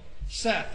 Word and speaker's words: Seth: There's also Seth, or Set, it's pronounced. He was called the god of the desert and protector of crops.